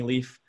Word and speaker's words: Leif: Paul knows you know I've changed the pronunciation of my name back to the actual Danish pronunciation from Leif to life I'm fine when people call me Leif and so I kind